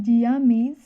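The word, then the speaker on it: Zea mays: इसका scientific name हो जाएगा जिया मेज। देखिए इसके नाम में ही इसका प्रोनाउंसिएशन करते हैं तो मेज ही आता है, जिया मेज।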